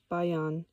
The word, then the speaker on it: bions: Footnote uh pronounced bayion.